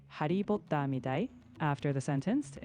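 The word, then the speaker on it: ハリー・ポッター: In Japanese, Harry Potter is pronounced Hari Potta. They extend the vowel, so Hari for Harry and Potta for Potter.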